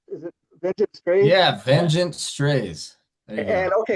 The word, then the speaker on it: Vengent Strays: Can you tell me how you pronounce the name? Is it Vengeance? Is it Vengeance Strays? Yeah, Vengent strays.